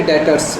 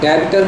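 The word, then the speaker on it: debtors: एक टर्म आ गई डेटर्स, ठीक है, बी साइलेंट है, डेटर्स बोलते हैं इसको। डेबिटर नहीं बोलना है, डेटर्स बोलते हैं।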